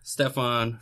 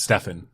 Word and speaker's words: Stefan: Anyways, welcome our guest, Stefan from Hyperbrole. Thank you. Did I say it right? You said everything very right, except for Stefan. It's Stefan. Stefan.